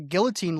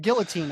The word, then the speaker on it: guillotine: Going back to uh I thought I thought the guillotine league was pronounced guillotine. Apparently the L's are silent.